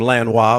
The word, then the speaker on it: Lanois: But Michael Elliott, Daniel Lanos. Oh, Daniel. Well, I pronounce him Lanois, but yeah, whatever.